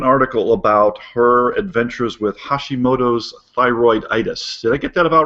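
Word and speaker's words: Hashimoto's thyroiditis: she wrote an article about her adventures with Hashimoto's thyroid itis did I get that about right Janelle you got it right that's how you pronounce that yeah super well thanks for being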